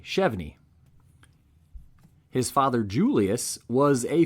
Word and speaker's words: Chevigny: g n y and pronounced with a silent G chvy his father Julius was